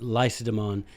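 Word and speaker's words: Lacedaemon: I am by Nature Spartan not laconic but lysodemon is how they pronounce that that's what they called their own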